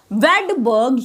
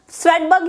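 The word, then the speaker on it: Svedberg: इसमें एस भी दिख रहा होगा बट मैं आपको बताऊं एस जो होता है वो साइलेंट होता है। तो हम इसको कहते हैं वडबर्ग यूनिट। स्वेटबर्ग यूनिट भी कभी-कभी कह देते हैं। No problem. बट जो सही है वो यही है कि वबर्ग यूनिट कहते हैं।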